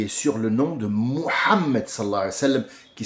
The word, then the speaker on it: Muhammad: Mais il a été appelé quand il est venu sur terre Muhammad alayhi salatu salam, parce que tout le monde va l'utiliser dans la bouche, ce mot Muhammad.